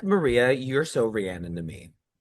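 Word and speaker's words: Rhiannon: And I never know how to pronounce the name of the song. Rian.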